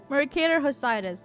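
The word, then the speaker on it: Mercator Hosidus: Okay, I pronounced his name wrong, entirely wrong. Mercator Hosidas, there we go.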